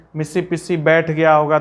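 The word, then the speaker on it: Mississippi: और दूसरा यहां पर मैंने इसे मिसिपिसी पढ़ दिया है, मिसिपिसी, लेकिन अगर आप गौर से देखिएगा तो यह मिसिसिपी है, पिस्सी ने होके सिप्पी है।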